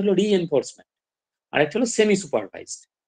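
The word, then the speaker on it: reinforcement: আচ্ছা, এবারে বিভিন্ন ধরনের মেশিন লার্নিং টেকনিক আছে, সুপারভাইজড আছে, আনসুপারভাইজড আছে, রিএনফোর্সমেন্ট আছে, এই উচ্চারণটা হলো রিএনফোর্সমেন্ট, আর একটা হলো সেমি সুপারভাইজড।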